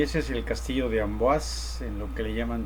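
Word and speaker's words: Amboise: Y esa es una vista lejana del castillo de Ambas de Ambas Amboazas, así se pronuncia, aunque se escribe, pero en fin.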